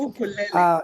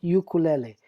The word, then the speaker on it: ukulele: So, Ukulele. English wise, you would pronounce it ukulele, but in Right, Hawaii, it's ukulele.